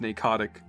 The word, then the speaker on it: Pnakotic: It's spelled Pnakotic, but given the PN, naming convention in English, I would chalk that up to it being pronounced narcotic, kind of like how Don said, or narcotic.